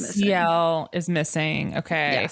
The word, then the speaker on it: Ciel: Oh, it's pronounced Ciel.